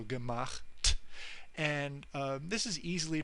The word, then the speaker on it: gemacht: And this is pronounceable, so gemacht. We're moving from the ch at the end, at the back of your mouth, towards the t, which is pronounced at the front of your mouth, so gemacht.